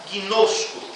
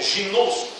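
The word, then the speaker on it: γινώσκω: Poderíamos pronunciar gino, que também é a raiz da palavra ginosco ou ginosco, que quer dizer aprender a conhecer.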